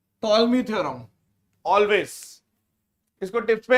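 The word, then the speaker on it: Ptolemy: इन ए होता है इसको बोलते हैं टॉलमी थ्योरम प साइलेंट है टॉलमी थ्योरम ऑलवेज इसको टिप्स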